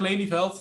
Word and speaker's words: Lelijveld: it short this part my name is laney felt so it was pretty close brand really you